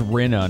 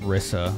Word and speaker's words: Rina: know there's oh it's rina not risa i was getting her name wrong feels bad your name is reno not risa whoops magician needs to